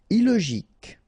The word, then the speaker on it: illogique: Illogique. Remember, k, k, ik. Illogique.